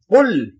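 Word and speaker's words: قل: কুল আপনি বলে দিন কুল এই যে আরবি উচ্চারণ তো কুল বড় কাফ এর উচ্চারণ আলাদা ছোট কাফ হলে তার উচ্চারণ আলাদা মানেও আলাদা আরবি খুব খুব সূক্ষ ভাষা এখন আমরা পড়ি কুল আউজুবি রাব্বি নাস জি কুল আউজুবি রাব্বি নাস কুল ছোট কাপ দিয়ে বললে তার মানে হলো খাও ছোট কাপ দিয়ে তার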